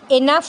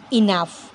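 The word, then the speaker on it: enough: money to বাই ইট এনাফ নয় কিন্তু উচ্চারণটা ইনাফ লাইক কমেন্ট শেয়ার আর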